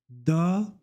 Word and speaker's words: dort: Le T ne se lit pas à la fin. No, et, mi, dort sur le lit. Noémie dort sur le lit.